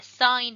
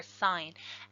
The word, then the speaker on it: sine: and they are the sine ratio. So sometimes mispronounced sin because it's S-I-N, but that's just short for sine, S-I-N-E.